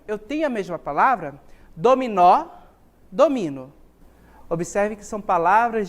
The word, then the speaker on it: dominó: a gente observou a palavra dominó onde é que está a sílaba tônica na última sílaba vou até voltar aqui